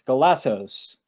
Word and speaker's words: Golazzos: podcast it's qst day today and we have galazzo have i pronounced that right um antonio yes glassos ah because we used to have a thing